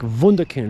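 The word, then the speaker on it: Wunderkind: kind of a w it's w when you write it and it's a v that's how you pronounce it kind of like vukin also spelled with a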